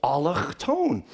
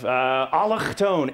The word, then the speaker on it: allochtoon: And allochtone, it's a beautiful word. It flows right off the back of the throat.